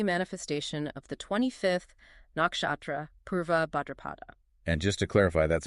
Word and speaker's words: Purva Bhadrapada: the deep earthly manifestation of the 25th Nakshatra Purva Bhadrapada and just to clarify that's pronounced PR BHA a drupada Exactly, and when